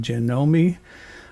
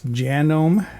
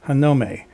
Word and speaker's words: Janome: some people pronounce it Janome what I learned online is it's genome It's Made in Japan where they pronounce it hanume this is a genome 9850 besides being a